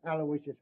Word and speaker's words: Aloysius: Terrence Aloysius Hogan. All right, Hogan. You're not a bad guy. I guess you deserve a break. Yeah, spell that middle name right. It's Aloysius. Aloysius.